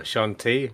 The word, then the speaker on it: Shanti: I am a Twilight Cleric, or Shantea, or Shanti, which is a correct pronunciation.